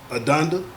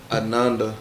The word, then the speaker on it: Ananda: teleision personality what you say her name was Adanda. Tell me what the right probably tell me. Pronounce it for me then. Ananda I'm sorry.